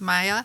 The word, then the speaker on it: Maya: My name is Maya, and to help with the pronunciation, people are welcome to say Hiya Maya when they greet me.